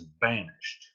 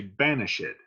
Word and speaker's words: banished: the word vanished but his characters will not say it as banished they will say banish it and that's to get that extra syllable in the line so there you go